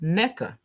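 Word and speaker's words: Nneka: a nigerian book and my name is pronounced neca and it means mother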